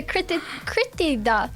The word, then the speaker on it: Kirtida: Kirtida. Did I say that right? You did say it right.